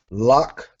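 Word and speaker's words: לָךְ: Next word is lock. You have your quamats under your lamed, your shiwa under your kaf, meaning your sound stops here.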